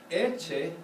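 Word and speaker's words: Ecce: Eche has an accent on the first syllable, so it's not bad at all.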